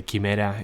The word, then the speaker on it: Chimera: be talking about is Chimera kimur I don't know how you pronounce this in English we would say Kimera in Spanish so the Chimera represents